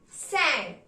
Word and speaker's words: cinq: Even if the spelling of 5 is C-I-N-Q, we are going to pronounce it as sank.